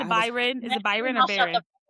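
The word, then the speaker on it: Beron: So, Lucing It's killing Derek that you're saying Byron. What's his name? Baron.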